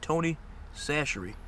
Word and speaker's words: Tony Chachere's: If you don't know how to say this, it's Tony Chachere's.